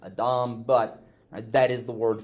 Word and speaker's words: adam: It's not pronounced Adam, it's pronounced Adam, but that is the word for man.